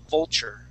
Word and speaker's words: vulture: Okay, and that, like what I was explaining before, when you see like a U-R-E or I-R or A-R ending, we're usually going to pronounce that like a E-R. So that word is vulture, vulture, okay?